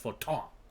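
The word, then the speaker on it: Fortemps: It's pronounced Forton.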